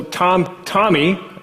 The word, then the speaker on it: TomEE: And so, that brings me, so TomEE, as we pronounce it, it's not TomEE, it's TomEE, like the name TomEE, or like the Who album, TomEE.